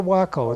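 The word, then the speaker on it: Waco: you call it a wacko it's nice like taco is pronounced the same way taco wakil and I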